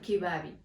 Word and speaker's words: kibabi: We don't really strongly pronounce that B, kibabi, the B-A, so it's a kibabi, ba ba ba ba ba, not ba ba ba, but ba ba ba. You get kibabi.